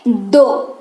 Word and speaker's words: though: क्या इस्तेमाल करेंगे, मतलब नंबर दो नहीं, दो वाला दो नहीं, THOUGH, लेकिन इसका उच्चारण होता है दो।